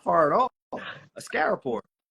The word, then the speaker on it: Askaripour: I've been pronouncing it Askaripour, and I was like, you said it, and I was like, that's not even close. No, that's not far at all. Askaripour. Askaripour.